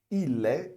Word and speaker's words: il est: E observa aqui também que quando eu falo il est, eu junto o L com o E, tá certo? Il est. E eu não pronuncio o ST.